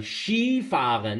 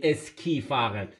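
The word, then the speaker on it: Ski fahren: یه فعالیت اسکی کردن شی فاغن نمیگیم اسکی فاغن شی فاغن این شی فاغن ما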